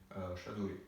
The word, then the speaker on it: Shaduri: What is the right pronunciation of your surname, by the way? Shaduri.